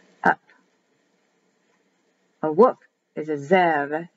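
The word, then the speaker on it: זאב: A wolf is a Zev, Zev, Z, E, apostrophe, E, V. Zev, written with a B, but pronounced as a V.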